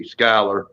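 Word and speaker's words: Schuyler: you go not yeah it says jeweler but she pronounces it skyler yeah ah let's see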